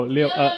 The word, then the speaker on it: 六: Oh, Leo. L-I-U. Leo. What's Is that real?